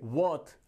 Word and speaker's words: worth: यदि आर से पहले कोई भी वाउल साउंड का यूज किया जाता है तो हम वहां पर आर को साइलेंट रखते हैं। तो यहां पर वर्थ नहीं, क्या बोलेंगे, वर्थ।